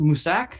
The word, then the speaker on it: Mousesack: It was actually pronounced Musak, but it is spelled Mousesack.